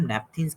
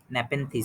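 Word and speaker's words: Nepenthes: ये कुछ प्लांट्स हैं जिनको हम नेपथिन्स कहते हैं। नेपेंथीज, सॉरी, मैंने प्रोनाउंसिएशन इसका गलत किया है।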